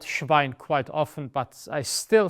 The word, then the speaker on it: Schwein: SCH is almost exclusively sh. So it is not das Schwein, it is das Schwein, the pig. Well, in fact, I have been called Schwein quite often, but I